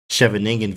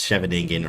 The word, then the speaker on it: Scheveningen: It's Scheveningen or Scheveningen, whatever.